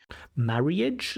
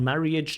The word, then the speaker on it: marriage: Marriage? So not marriage, just 2 syllables, marriage.